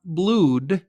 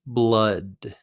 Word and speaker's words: blood: First pronunciation. It's not blood, it's blood.